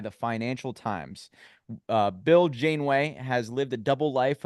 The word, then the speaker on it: Janeway: think about William H janway Janeway I believe is how you say Bill is what he